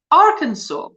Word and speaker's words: Arkansas: Americans pronounce it as Arkansas which is uh doesn't make sense to the the way that it's written but now that's probably